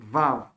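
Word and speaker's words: וָו: Quand elle est seule, elle se prononce V, Vav.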